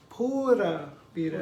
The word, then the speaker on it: pura vida: The U in Spanish is never like Y-U. The U is always U, so it's pura vida. It's not pura vida. And then the R is supposed to roll it a little, but you can